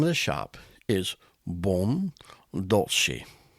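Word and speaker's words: Buon Dolce: Okay, but the name of the shop is Bon Douli. It's b u o n d o l c e. Bon dolcei.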